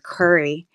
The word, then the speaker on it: Curry: of name thing um my name is curry and um a lot of and my last name is and a lot of times people will say Curry or they'll say they'll just not and they they won't even pronounce my first name right now it's felted just like the spice but um still sometimes